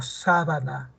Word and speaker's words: sábana: algunas palabras por ejemplo si digo sábana otra cosa es Sabana el la sílaba tónica se ha desplazado eh aquí está no